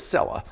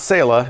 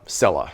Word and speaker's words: Selah: of the bottle is Cella I asked the company they said it rhymes with Bella not SAA not Sila Cella now while some of